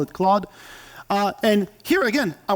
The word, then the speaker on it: Claude: Claude CL a u d I heard people pronounce it claudy Claude I call it Claude uh and here again I wanted to see